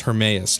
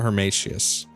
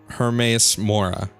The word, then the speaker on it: Hermaeus Mora: it wrong her hermaeus it's hermaeus not her Mathias hermaeus mora there we go from